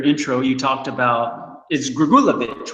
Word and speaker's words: Grigulevich: you're in your intro you talked about is gregulovic right I mean is that how you pronounce it yeah um I mean and you